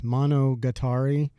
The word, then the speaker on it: Monogatari: Monogatari.